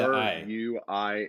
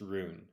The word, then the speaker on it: Ruin: R it's it's unbelievable you say Rin or R it's got a real R you don't pronounce r u i n there's no ruin it's just Rune I mean I'm Canadian